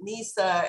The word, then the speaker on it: Nisaa: deal with the egyptians and arabs i i pronounce it nisa and to them it's as foreign a name